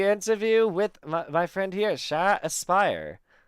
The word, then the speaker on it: Sha Aspire: with my friend here sha aspire hopefully you said your name right or is it like Shay or no you said it right the first time sure I gotcha do